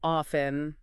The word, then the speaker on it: often: So they talk about often, how some people drop the T sound. Right, like often. Yeah, and they say both ways are fine, but you got to know it exists.